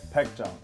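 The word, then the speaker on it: Baekjeong: How do you pronounce this name? Baekjong.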